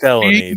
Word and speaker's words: Filoni: It's pronounced felony, but yes, close.